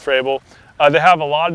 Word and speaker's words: Frabill: one is made by by fray below at least I believe it's called it's pronounced for Abel they have a lot